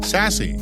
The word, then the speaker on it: SASE: relationships origin and context pronounced sassy or as I like to call it sass the term is so